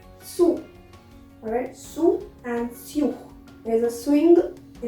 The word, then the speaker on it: sous: Many people have a misconception that sous or sur is similar or it is pronounced similarly, but no, mind it, it's sur, sur, and it is sous, sous.